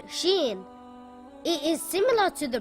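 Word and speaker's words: شين: Sheen is a light letter and should not be pronounced heavy. Sheen makes a similar sound to the SH in the word show or the word shoe.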